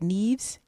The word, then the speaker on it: Nieves: And here's a woman who And how do you say it? Neeves. Is it Ne? Neeves. Neves did something.